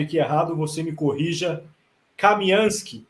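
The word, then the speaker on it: Kamianske: Kamianski, esse é o nome da cidade? Sim, e pode ser pronunciado como Kamenskoye também.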